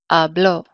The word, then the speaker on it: habló: And in the preterite, it's the last syllable. So hablo would be the second to last syllable, right? A is the second to last, and now we've moved it to the last syllable. So we mark it with an accent mark, and it sounds like this, hablo.